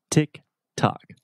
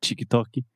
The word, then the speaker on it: TikTok: talking about the platform itself just a quick pronunciation about the name of the platform Tick Tock so this is not chalkie not anything like that tick tock tick tock